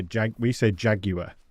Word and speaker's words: Jaguar: So the UK and Americans, we say Jaguar. This is something that we have different. We say Jaguar, you say Jaguar, don't you? Jaguar. We like to pronounce every letter.